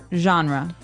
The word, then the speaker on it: genre: We say genre. Genre word genre. This kind of sounds French. Is it French? I think it comes from French.